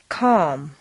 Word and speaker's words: calm: five seven silent ELLs once you've found all the L sounds the good news is that very often you don't even have to pronounce them read the following list